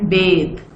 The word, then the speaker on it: bath: This bath is इसका जो a sound है वो आप उस तरह प्रोनाउंस करेंगे जिस तरह हार्ड में प्रोनाउंस करते हैं, हार्ड एंड बाथ।